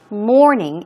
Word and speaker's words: mourning: what about mour uh it's pronounced exactly the same way as we say I wake up at 9:00 in the morning morning afternoon evening the pronunciation is the same mourning and we're talking about